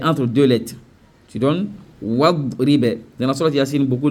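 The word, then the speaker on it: واضرب: Tu donnes wadribe. Dans la sourate Yasin, beaucoup de gens disent wa idribe lahum mathalan. C'est wadribe lahum. Wadribe. C'est pas wa idribe.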